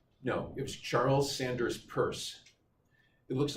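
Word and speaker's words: Peirce: it was Charles Sanders purse it looks like Pierce when you'd it's written down but it's pronounced purse his dad was a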